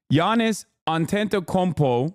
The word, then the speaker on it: Antetokounmpo: Giannis Antetokounmpo, say it correctly, also known as the Greek freak, okay, is a Milwaukee Bucks power forward, okay?